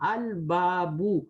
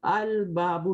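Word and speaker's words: الباب: Because we are not skipping the lam. We are reading the lam. Al-babu. Al-babu.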